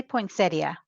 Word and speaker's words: poinsettia: A poinsetta. A poinsettia. How do you say that wordy that? I say poinsettia.